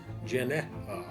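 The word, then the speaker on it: γενεά: herself itself themselves the word used for Generation pronounced Janea could mean age or a time period let's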